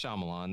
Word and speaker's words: Shyamalan: uh i looked his i looked up pronunciation this is shyamalan isn't it it's shyamalan there you go yeah